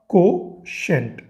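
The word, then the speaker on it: quotient: ठीक है, कोशेंट। Spelling पे कंफ्यूज मत हो जाना, इसको कोशेंट हम लोग पढ़ते हैं।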